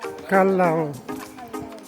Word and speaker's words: Callao: Yes po, tamang pag-pronounce po ay Calao.